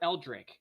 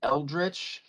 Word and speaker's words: eldritch: how is it pronounced is it pronounced eldritch or eldrick either way i've always pronounced it eldritch but i've also heard people say eldridge eldridge blast eldrick blast who cares just depends on where you're from i guess okay so i'm interposing